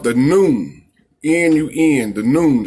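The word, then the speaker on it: Nun: N-U-N, the noon. It's pronounced just like noontime.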